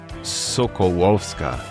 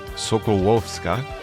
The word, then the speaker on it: Sokolowska: Her name is Julia Zuzanna Sokolowska. I was very careful to get the pronunciation as close as I can for a U.S. English speaker. It's the beautiful Polish dialect. Sokolowska is her last name.